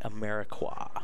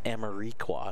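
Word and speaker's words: Amarikwa: or to know and Quincy America wha not Amory quad as he was known when he first came into the league many many years ago there were a lot of horrendous its pronunciations of that name in the first few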